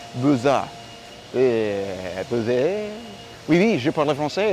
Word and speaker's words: Beaux-Arts: It's actually pronounced a Beaux-A.